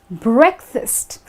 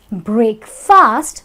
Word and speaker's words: breakfast: But if you pronounce it as break fast, because it's like two words combined together, now that is going to be wrong, wrong, wrong. The correct thing is breakfast.